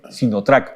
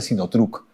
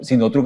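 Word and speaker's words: Sinotruk: marca sinot truc no en el mercado dicen sinotrack pero la se pronuncia sinot truc no sinot truc es una línea de volquetes y de este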